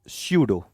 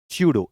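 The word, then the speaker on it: pseudo: इसको कहते हैं, इसको स्यूडो। स्यूडो इंग्लिश में कहेंगे स्यूडो, पी साइलेंट होगा, स्यूडो, है ना, स्यूडो। पी नहीं बोला जाएगा, लिखा पी साइलेंट होता है, स्यूडो।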